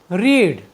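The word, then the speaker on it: read: Next verb है हमारी रीड। रीड की तीनों फॉर्म एक सी होती हैं, लेकिन इनका जो प्रोनाउंसिएशन है वह रीड, रेड, रेड होता है।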